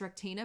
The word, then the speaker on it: Rectina: from his friend rectina i know her name is rectina but all i want to say is rechtena who she'd written to